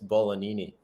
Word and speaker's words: Bolognini: There's no G pronounced, but it's Bolognini.